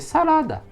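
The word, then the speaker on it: サラダ: né 35 e sarada e sarada né pronúncia um pouco diferente porque português tem esse a diferença de som de ele e são de então salada japonês deitado né salada sarada tanto faz e agora aqui Mas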